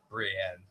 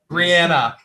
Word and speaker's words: Brienne: I have I have enough trouble pronouncing things when I'm sober. Oh, yes. Brienne, give me Brianna.